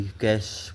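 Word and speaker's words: cache: इसको भी कैश pronounce किया जाता है, CACH, कैश बोलते हैं इसको, कैश, ठीक है, कैश मेमोरी।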